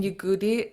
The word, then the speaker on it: yigoodí: Yeah, so the y in yigoodí is short and low.